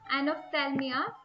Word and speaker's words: anophthalmia: Anophthalmia, it's called, its spelling is ANOPHTHALMIA. So its pronunciation anophthalmia.